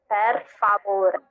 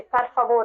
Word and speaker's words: per favore: Yes, it's like per. Per. So you have to roll your R's on that. Yeah. Per. Yeah, per. To be fair, if you say favore after, you say per favore.